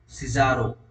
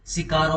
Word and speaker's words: Cicero: Number 2 या फिर बी कौन कहता है, सिजारो, CICERO। कुछ लोग इसको सिजारो प्रोनाउंस करते हैं, कुछ सिकारो प्रोनाउंस करते हैं, कुछ सिगारो बोलते हैं। ठीक है ना, तो टेंशन मत लेना। ठीक है ना, सिजारो।